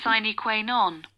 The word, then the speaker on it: sine qua non: What is the pronunciation? Sine qua non.